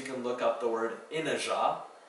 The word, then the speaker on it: inajá: For some bonus words, you can look up the word inajá. It's a tall, pinnate-leaved Brazilian palm with immense prickle-tipped spades. That one's spelled I-N-A-J-A. Because the zh is spelled with a j here.